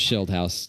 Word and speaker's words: Schildhouse: It's pronounced Schildhouse. You're pretty close.